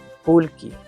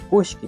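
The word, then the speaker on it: kullki: Sí, kulky se escribe con doble L, pero la pronunciación es como una L normal. Sí, kulk. Sí, pero en la Sierra Centro van a escuchar Kushki por ahí.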